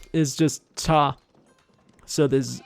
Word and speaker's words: 查: Now this 查 is just cha. So this silent T at the end completely disappeared.